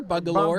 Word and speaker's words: Bungalore: Are you say lore? Bungalore. Bungal bungalore like almost like it's like folklore.